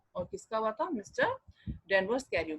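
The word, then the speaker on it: Thames: अब यहाँ पे देखो लंदन में जो है थेम्स नदी है, इसको हिंदी में प्रोनाउंस टेम्स होता है और इंग्लिश में प्रोनाउंस होता है थेम्स.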